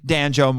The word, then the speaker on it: Danjo: exacts his wrath upon Danjo rhymes with banjo and rescues our heroes.